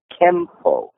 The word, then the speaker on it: Kenpo: No, when you place it together, the syntax of the two characters changed the sound of the N from Ken into an M sound, so Kenpo, and that's the Japanese pronunciation.